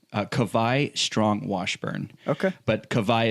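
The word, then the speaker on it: Kawai: what's his name uh kavai strong washburn okay but kavaya is spelled k-a-w-a-i so of course we're from hawaii yeah the hawaiian w is pronounced like a v like a german w basically well that's fantastic i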